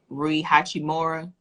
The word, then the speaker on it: Rui Hachimura: The Nike Air Jordan 8 Retro SE, how do you pronounce this? Rui Hachimura.